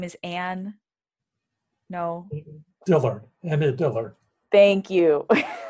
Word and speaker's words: Annie Dillard: Annie Dillard. Thank you. Annie Dillard.